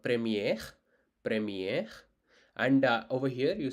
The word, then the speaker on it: premier: first it's called premier it's called premier premier so don't too much I would say do do not concentrate on R sound too much because Uh sometimes R sound can be neglected based on the word you're trying to spell.